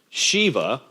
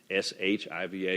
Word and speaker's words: Shiva: and go with it these are either si VA or Shi VA you also hear pronounced in different ways Shiva and Vishnu V is